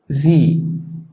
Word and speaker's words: Sie: Y también está el diptongo IE, que suena I, como por ejemplo en la palabra Sie, que es el equivalente de usted.